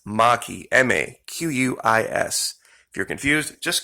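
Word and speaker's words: Maquis: florida mackey that's m-a-q-u-i-s there's no r in marquee pardon me see now i'm saying it there is no r in maki people spell it marquee all the time m-a-r-q-u-i-s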